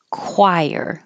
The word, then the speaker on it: choir: Miriam Webster dictionary so choir the CH sounds like a c and the oi sounds like an i chir the singing group